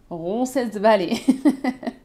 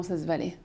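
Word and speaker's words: Roncesvalles: qui s'affiche ici et que beaucoup prononcent rones Valy comment tu le prononces vraiment RESV ça n'a rien à voir ron ron valally c'est pas du tout la même chose ça situe sur c'est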